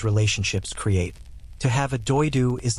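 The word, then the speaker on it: Дойду: The Saka word for homeland, Diedu in the Saka language, pronounced roughly as Doidu, carries connotations that go significantly beyond the simple territorial meaning of the English word.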